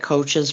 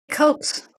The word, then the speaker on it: Koch's: never say it right, coaches' postulates. And I wrote down Dr. Andrew Kaufman. That's the only one that I know right offhand. But anyway. Just say Koch's postulates.